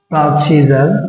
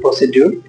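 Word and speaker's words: procedure: তারপর প্রসিজার, অনেকেই বাংলাদেশের অধিকাংশ শিক্ষার্থীদেরকে বলে প্রসিডিউর, আসলে এটা উচ্চারণ হচ্ছে প্রসিজার। শব্দের মাঝে ডি এর পরে ইউ আসছে, এই জন্য ডি উচ্চারণ জ হয়েছে।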